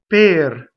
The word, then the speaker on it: per: So notice it doesn't rhyme with pair. Per pair is so it's a pair bi.